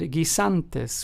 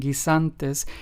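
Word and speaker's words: guisantes: gantis which means peas notice how the U in these two Spanish words Gia and G santis is preceded by the letter G and Then followed by the letter i thus making the U or the U in these two words in Spanish completely silent so just remember that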